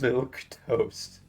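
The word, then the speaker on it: milquetoast: Milk toast. A timid or feeble person. Is that how you pronounce it?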